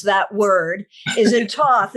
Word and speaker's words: Thoth: that word is in toth is it toth is it thoth is it tohote how do you say it i say toss but you know you will find varieties of that that's fine